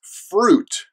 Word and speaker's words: fruit: debt next up is fruit now this word is spelled you eye and the eye makes the yuh sound and ooh sound fruit but don't pronounce the I it's not fruit or